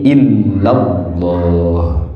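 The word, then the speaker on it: إلا الله: Tapi digabung menjadi illallah. Illallah. Tasdidnya jadi dua. Di lam pertama, di lam kedua. Di illahnya ada tasdid, di lafaz Allahnya juga ada tasdid.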